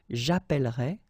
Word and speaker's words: appellerai: And it will affect all the forms, so remember, you double the L, so it does open the sound of this E, and you get E, okay? J'appellerai, tu appelleras, il appellera, nous appellerons, vous appellerez, ils appelleront.